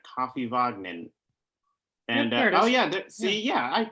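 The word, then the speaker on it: Kaffivagninn: pretty good pronunciation a it sounds like you know coffee vogmen and oh yeah see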